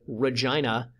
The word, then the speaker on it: Regina: the purposes here just outside of Regina yes that's how it's pronounced and just north of